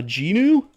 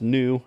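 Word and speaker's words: gnu: A Genu? The word is pronounced new, actually.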